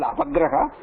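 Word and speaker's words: अवग्रह: Guruji, the name of the sign is called avagraha. Avagraha. Ava or apa? Ava. Avagraha. Ava. Like no, sorry. धन्यवाद. Avagraha. Ava. Avagraha, like Guru Graha, Shani Graha, like that. Avagraha.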